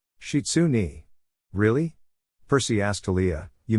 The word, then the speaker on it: Shizune: You're all right, Shizune. Shitsune. Really? Percy asked Talia, you mispronounce her name?